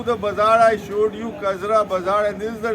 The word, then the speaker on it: Kajra: So Chakthani is mispronounced as Chativavo and Kajra mispronounced as Jagoda.